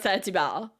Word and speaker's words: Saint-Hubert: It's spelled the way that it sounds. Hubert. Saint Hubert. Or Saint-Hubert is how we say it.